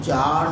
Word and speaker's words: Tsar: जार की spelling T से है, टी साइलेंट है, TSAR, जार Nicholas second, to give up his power.